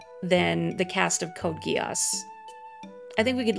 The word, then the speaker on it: Geass: It is pronounced Geass. I knew before I had seen the series, I had no idea. But it is pronounced Geass.